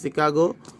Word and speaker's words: Chicago: Machine Company in Chicago, এটা উচ্চারণটা হবে বাংলা আমরা শিকাগো বলি, Chicago, went on strike demanding an 8-hour work day.